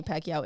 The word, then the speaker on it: Pacquiao: Pacquiao.